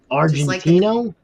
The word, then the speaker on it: Argentino: do you pronounce it Argentino just like the country Bo with an O